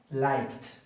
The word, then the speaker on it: liked: Like, liked, liked. La es muda ahí.